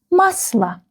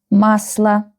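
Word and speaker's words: масло: So this letter O will be read and pronounced like a musla. Musla.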